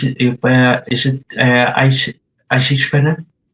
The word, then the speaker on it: Eisige Venen: And I hope I pronounce it. Is it Eisige Venen? Eisige Venen, yep.